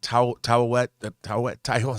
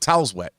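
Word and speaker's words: Taweret: I mean, all these, the gods Khonshu and Amet and Tawet. I never pronounced it right. Towel's wet.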